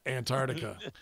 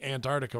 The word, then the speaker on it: Antarctica: Originally from Tasmania, the island right above Antarctica. I just wanted to tell you that you're pronouncing Antarctica wrong. The way to say it is Antarctica rather than Antarctica.